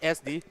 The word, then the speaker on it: SDZYZ: It's SDZYZ, but the ZYZ is silent. So it's just SD.